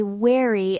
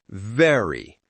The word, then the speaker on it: very: For example, they say wary instead of very. Let's fix that. For V, your top teeth touch your bottom lip. V, very, voice, visit.